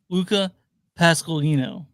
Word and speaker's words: Luca Pasqualino: His name is pronounced Luca Pasqualino.